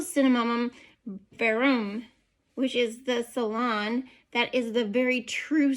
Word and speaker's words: Ceylon: Now, if you hear me say something like Ceylon, okay, because it's spelled C-E-Y-L-O-N, and I looked it up, and it says it's supposed to be Ceylon, something like that.